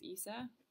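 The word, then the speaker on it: Issa: I think his name is pronounced Isa, and I just found him to be so funny.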